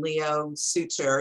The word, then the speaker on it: Leo Suter: So your actors, Adelaide, Clemens, and Leo Suter, is that the way you pronounces it?